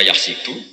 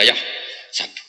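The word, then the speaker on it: يحسب: Karena dalam qiraat asab ada yang baca yahsibu, qiraat kita baca yahsabu. Tapi guru-guru kita kalau ngajar fikih itu bacanya yahsibu. Tapi kalau baca Quran, yahsabu.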